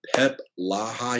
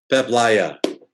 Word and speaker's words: Peep Laja: Today, I'm super duper excited to have Pep Laja here on the show with me. Did I pronounce that right? Pep? No, Pep Sorry. Laja. Pep Laja.